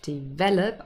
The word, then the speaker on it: develop: first syllable, and develop, here develop on the second syllable, they retain the same stress pattern.